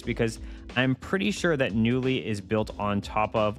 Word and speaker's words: Knulli: am bernick RG Cube XX this is called newly I'm going to spell it on screen here because it is a